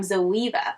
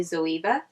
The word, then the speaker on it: ZOEVA: to talk about is from zoeva or Zoe please correct me if I'm mispronouncing that I think it's actually zoeva this brand right here